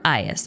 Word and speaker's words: Aias: Or Aias, I guess; you could say his name either way.